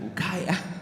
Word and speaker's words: Ukiah: And then, like, how you spell it? And then he started cracking, like laughing. It's like, Ukiah.